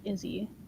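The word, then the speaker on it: IZZE: Also, Lisa said, I'm thinking it's pronounced like Izzy.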